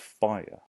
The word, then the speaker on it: fire: I'm going to pick the word fire. Now fire can be tricky because it sounds like it might just be 1. Fire. But let's say it slowly. Fire. So it actually has 2 syllables.